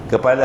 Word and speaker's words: kepala: modal kepala harta baj baca kapal dulu ni ejaan lama tuan-tuan kaf fa alif lam jangan baca kapal pula kepala harta apa makna kepala